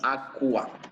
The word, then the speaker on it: aqua: En caso de la Q y la GU, se va a pronunciar completamente la U. Por ejemplo, aqua se va a leer como aqua.